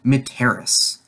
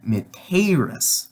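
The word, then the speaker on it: mitteris: is you are sent it is very important to have a short e on to that because second person singular in the future will be meteorous with a long e in the only difference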